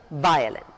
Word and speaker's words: violin: He plays the violin.